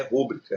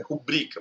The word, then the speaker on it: rubrica: Gratuito, periferia e rubrica são paroxítonos, não é rúbrica, é rubrica, paroxítono.